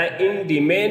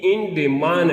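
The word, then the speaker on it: انډمان: دا انډیمین هم ویلی کېږي، انډیمان هم ویلی کېږي، دواړه رقمه تلفظ کېږي.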